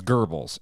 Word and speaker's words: Goebbels: Nazi history that I don't know how to pronounce one of the key figures of the Nazi Party, Goebbels. It's Goebbels.